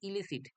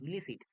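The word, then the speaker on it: elicit: মাথায় ক্লিক করে যে এর একটা হোমোনিমাস একটা ওয়ার্ড আছে হোমোনিমাস মানে কি উচ্চারণগতভাবে এক কিন্তু অর্থগতভাবে আলাদা। এই ইলিসিট মানে কন্ট্রাব্যান্ড। মানে দ্যাট ইজ ইললিগাল। আর এর হোমোনিমাস ওয়ার্ডটা হচ্ছে ইলিসিট। ই এল আই সি আইটি ইলিসিট।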